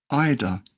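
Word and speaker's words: eider: IDA. E I D E R. Because we will have an IDA down.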